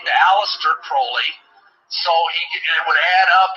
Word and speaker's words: Crowley: be have his name pronounced crowley to rhyme with holy and uh these statements